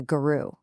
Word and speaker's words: guru: He treated Krishna like a guru, and there's our second special word. It's pronounced guru.